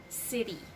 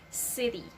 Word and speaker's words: city: See, it actually sounds like letter D, not a strong T. Aside from water, I will give you more examples of words that actually has this letter T that is not pronounced very strongly in the middle of the two vowels. And again, the sound becomes letter D instead of letter T.